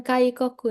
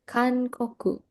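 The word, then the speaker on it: 韓国: Ini tuh kankoku. Salah sedikit, bukan kaikoku ya. Kankoku.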